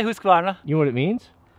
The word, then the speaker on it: Husqvarna: Now, there's some controversy on how you pronounce. Americans say Husqvarna. Or Husky. Mrs. W says Husqvarna. Husqvarna. How would you say it? I say Husqvarna.